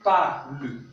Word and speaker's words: parles: La deuxième personne, le S n'est pas prononcé. Donc, tu parles se prononce comme je parle.